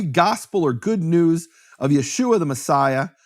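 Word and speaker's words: ישוע: of nun meaning there's no question from any serious scholarship about how to pronounce that name Yeshua no question whatsoever right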